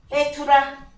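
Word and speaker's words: בתולה: 자, 발음이 어떻게? 베투라.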